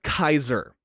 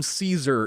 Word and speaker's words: Caesar: __ ] reason the the vast majority of characters pronounce it as Kaiser no even though the developers call him Caesar in every interview I